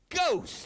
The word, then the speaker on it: ghost: So it would be ghost. That's right. Sometimes the GH has the G sound.